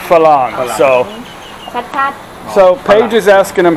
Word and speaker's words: ฝรั่ง: Is it Farang or Falang? Falang. Falang. Okay, Falang.